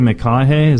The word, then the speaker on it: McConaughey: it's not even a joke but a Matthew McConaughey's I was how you say his name yes